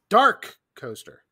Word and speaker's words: Dark Coaster: this but it is you have to emphasize the dark right dark coaster yes coaster dark coaster